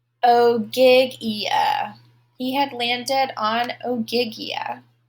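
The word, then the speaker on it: Ogygia: had landed on oig let me check the pronunciation oh gigia he had landed on oiga the home of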